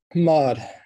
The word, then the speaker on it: MOD: I want to congratulate you on starting the MOD Institute. Are you pronouncing it M-O-D or are you pronouncing it MOD? MOD, yep.